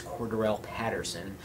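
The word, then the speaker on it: Cordarrelle Patterson: Now, I know you don't know how to say his name, but it's Cordell Patterson.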